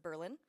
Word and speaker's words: Berlin: We also have in Marathon County a city that's named after Berlin, but we pronounce it Berlin.